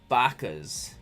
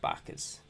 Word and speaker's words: Bacchus: so this is um bakas nutty bakkas i like bakers all right i'll say it right bacchus sorry man but the